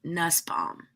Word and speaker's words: Nussbaum: Nuss like bus, Nussbaum.